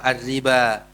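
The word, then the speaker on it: الربا: Jadi, cara pengucapannya berbeda dengan cara penulisannya. Yang tertulis wau tapi yang kita baca alif. Alif yang ditulis asala apa? Arriba.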